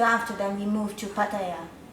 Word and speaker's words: Pattaya: So after that we moved to Pattaya.